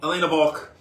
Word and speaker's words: Walch: wanted to be again Elena balk and that is pronounced Volk with a V they are the family